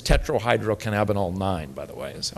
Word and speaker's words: tetrahydrocannabinol: it was hypocritical was two percent thc it's tetrahydrocannabinol nine by the way is how it's pronounced paul can do me one better i'm